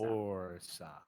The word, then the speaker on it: Orsa: Press the first syllable. Orsa. Orsa. No, Orsa. not It's with that much R. It goes away. It literally goes away.